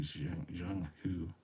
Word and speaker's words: Zheng He: It is Chinese. The closest pronunciation to English would be Zhang Hu.